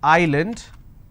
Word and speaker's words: island: but if i have a word which is island i don't pronounce this as island so s is silent here okay for example if